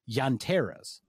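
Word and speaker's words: llanteras: there will be a place that that sells yanteras which is spelled l-l-a-n-t-e-r-a-s and that means tire in spanish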